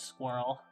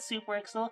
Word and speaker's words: SuperXel: I nearly accidentally mispronounced your name as squirrel. And I am so sorry. It is not squirrel. I look at super excel.